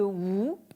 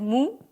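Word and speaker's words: 無: C'est-à-dire, vous avez d'abord ce terme de wu ici. Vous le connaissez peut-être en prononciation japonaise, mu.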